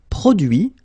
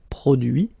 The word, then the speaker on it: produit: Produire, produit. Réduire, réduit. Séduire, séduit. Traduire, traduit. Okay, so the same rule, because, well, basically it's the same group, and then same rule, final T not pronounced, so introduit, produit, réduit, séduit, traduit.